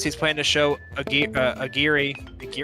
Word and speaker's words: Aguirre: Liam says he's planning to show Agiri. Is that how you pronounce it? Agiri? The Werner Herzog movie we're doing. Aguirre. Right there. Aguirre, Don't yeah.